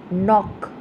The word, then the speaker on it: knock: Second, knock. Silent letter is K.